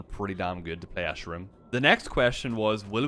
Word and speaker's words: Escharum: How do you pronounce Escharum? He's called Escharum.